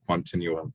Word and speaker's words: Quantinuum: computing to make uh this new company called continuum so that's how you pronounce it and so yeah i'll